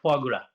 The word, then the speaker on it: foie gras: I don't know how to pronounce in French language, but foie gras. Your pronunciation is very good, foie gras.